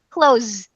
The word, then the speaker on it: clothes: can help you with clothes but if you want to just have a shortcut and an allowable shortcut see because not all of them are allowed but this one is allowable close nose yeah I think